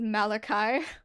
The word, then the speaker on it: Malachi: It's spelt Chi, but my name is Malachi.